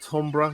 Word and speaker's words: timbre: Is it timbre? You're supposed to pronounce it. I always call it timber to wind up my mate's wife who's a music teacher.